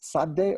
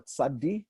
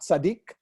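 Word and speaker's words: צדי: my videos with you the name is sade or tsadi could be either way he's known by both variants of his name not sadiq some people think that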